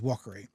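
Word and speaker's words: Wakari: a r i and people call it Yer don't know how they get that from it but it was Walker now the mountain behind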